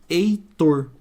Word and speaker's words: Heitor: letras e três fonemas Heitor mesma coisa se eu tiro o h aqui ó fez alguma diferença no som na pronúncia não então eu tinha uma